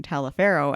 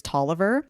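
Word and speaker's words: Taliaferro: oh when we were preparing for this I pronounced the name talifero and then I got the whole it's Tolliver so you basically hermion me you know the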